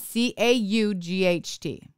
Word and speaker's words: caught: CA you ght caught I am northern because I pronounce them different as southern people say cotton cot but I say cot and caught did you hear the inflection is different so maybe that's why